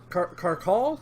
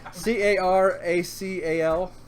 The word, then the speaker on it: caracal: We got the Regal Carcall. Is that how you would pronounce it? Carcall. Regal Pussycat. Yeah, basically. Caracal. Caracal. Caracal. That sounds right.